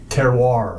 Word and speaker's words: terroir: And how do you pronounce it, Andrew? Terroir.